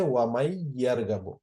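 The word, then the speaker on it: وَمَنْ يَرْغَبُ: এখান উচ্চারণের ক্ষেত্রেও যেহেতু ইয়া এর উপর তাসদীদ আছে, এই কারণে মান যেটা ছিল সেটা মান উচ্চারণ না হয়ে হবে মাইয়ার গাবো। কেননা নুন উচ্চারিত না হয়ে মিমটা গিয়ে সরাসরি এখানে ইয়াকে ধরে ফেলবে।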